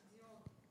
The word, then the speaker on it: Dion: Dion. Like Céline Dion.